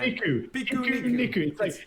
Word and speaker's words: Pikuniku: Pikuniku roaming to Stadia. Pikuniku. It's the Japanese word for picnic. Is it? Well, it's the Romanized version.